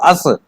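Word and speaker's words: us: हिंदी में भी लिखो इसको अस प्रोनाउंस इसका आस नहीं अस अब तेरी तो समस्या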